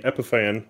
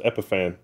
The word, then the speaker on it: Epiphan: This is our quick test of the Epipan. I I'm pretty sure that's how it's pronounced. Epiphan. The The name looks like Epiphany but without the Y.